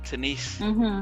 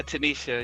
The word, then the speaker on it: Tanisia: I think people want to maybe Tania or Tanise, or so I can imagine how that could be. Yeah, but Tanisha with an H. Yeah, Tanisha.